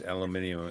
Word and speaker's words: aluminium: looked into I've actually researched this aluminium and aluminum, and they're both legitimate.